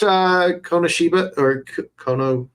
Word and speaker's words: Konosuba: I watched Konosuba. That's how it's pronounced.